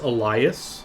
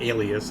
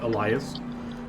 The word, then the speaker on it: Elias: supposed to be pronounced Elias I don't know if that's spelled exactly how that's supposed to be pronounced it's not like Alias it's like Elias and the other one